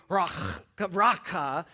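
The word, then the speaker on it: raca: The word raqa is pronounced with this hard sort of throaty raka.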